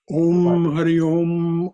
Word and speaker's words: Om Hari Om: Om Hari Om, Om Hari Om, Om Hari Om, Okay.